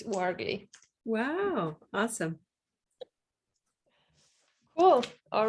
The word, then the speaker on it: Ouargli: last name oh it's wargly waggly yes because in french o and u is uh sound so yeah and uh so it's wargly wow awesome cool all